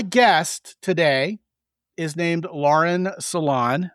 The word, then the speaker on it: Salaun: My guest today is named Lauren Salon. It's not spelled s a l o n, uh, but it is pronounced that way.